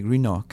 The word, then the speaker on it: Greenock: Alors, Airdrie, Coatbridge et Greenock. C'est ça, je les prononce sans doute assez mal, mais je vais vous laisser le faire peut-être.